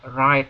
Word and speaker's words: write: Demikian juga kalau ini ya, ini bacanya bukan write ya atau writing, salah. Ya, write atau writing. W-nya nggak usah dibaca ya.